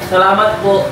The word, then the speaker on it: Salamat po: Salamat po.